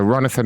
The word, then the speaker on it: Ronathan: that to me yeah so ronathan is like Jonathan but with an R okay and then bastard